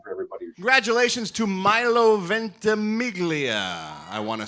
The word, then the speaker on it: Ventimiglia: Congratulations to Milo Ventimiglia, I want to say. I always get confused whether it's Ventimiglia or Ventimiglia, because I think the Italian pronunciation is Ventimiglia.